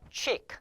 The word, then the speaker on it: cheek: 자, CH 발음이요. 이런 발음 기호로 나는 경우가 있는데 이럴 때는 이게 치가 아닙니다. 주의하셔야 될 게, 자, 취예요. 취. 그래서 cheek.